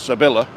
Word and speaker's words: Sevilla: So it's an L. So it's Sevilla.